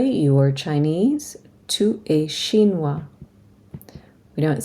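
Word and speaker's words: chinois: have a boy you are Chinese to a shinoa we don't say the S on shinoa if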